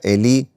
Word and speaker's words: Elí: Me parece que se pronuncia Elí y tiene que ver con las últimas palabras que dijo Jesús en la cruz, supuestamente.